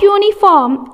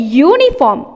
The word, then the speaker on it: uniform: Here its starting letter is vowel only, but it sounds when you pronounce it, when you read it, you have to read uniform. Uniform. So it changes the sound. So we have to tick A because it sounds like consonant sound.